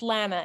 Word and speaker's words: Lana: hoping it's pronounced lana it's lana it rhymes with banana but you're close thanks um